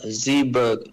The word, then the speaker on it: Zeebrugge: Is that how you pronounce it, or Zeebrugge? Zeebrugge, Belgium. Yeah, Zeeburg.